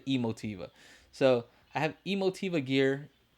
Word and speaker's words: Emotiva: I think that's how you say it. Emotiva. I've heard people say Emotiva, but I like to say Emotiva.